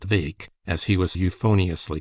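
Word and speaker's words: Bheag: little Farquar or Farquar Vake BH EG pronounced Vake as he was euphoniously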